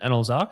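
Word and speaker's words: Anlezark: Austin Analyse, is that how you pronounce it? Analyse, yep.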